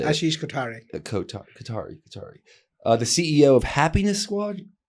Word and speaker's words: Kothari: Kothari.